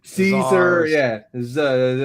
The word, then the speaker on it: Cesar: It's like Caesar, he says. Yeah, Caesar. Lopez. That's I know what his last name is. Cesar Lopez. Yeah, Czar. Yeah, Czar Lopez.